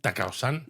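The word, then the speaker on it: 高尾山: Que, por cierto, ¿tú sabes cómo se dice en japonés el Monte Takao? Atacao. No, No sé. Takao-san. Ah, Takao-san.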